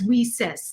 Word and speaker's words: WiCyS: We often go by our acronym WeSys as WICYS, and we pronounce it as WeSys, like we sisters, because that's exactly what we are.